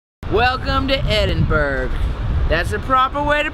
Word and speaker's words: Edinburgh: Welcome to Edinburgh. That's the proper way to pronounce it. Don't let anybody tell you different. Whoa, no. It's Edinburgh. You pronounce it Edinburgh.